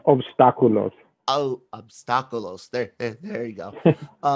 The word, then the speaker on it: Obstáculos: It's pronounced obstáculos.